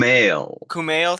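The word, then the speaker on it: Kumail: Kumale.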